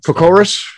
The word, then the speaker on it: Kokoris: I pronounced it wrong, but Kokoris. Kokoris. Yeah, that's what it is.